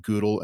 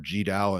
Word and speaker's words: GDAL: is a software library called google and ogre or gdal and ogr depending on how you like to pronounce those and those are